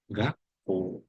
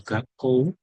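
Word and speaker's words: がっこう: Contohnya di sini ada ta gak ko gak o ya. Jadi cara membacanya bukan gako tapi gak o.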